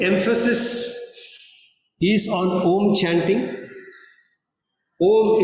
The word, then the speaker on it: Om: Om is supposed to have 3 syllables, A, U, Ma.